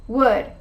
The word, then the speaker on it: would: i love eating grilled salmon number four what would would you like some coffee number five could